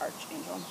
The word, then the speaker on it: Archangel: Is it arch or arc? I never know. They have some funky names that Arch. A-R-C-H, Archangel.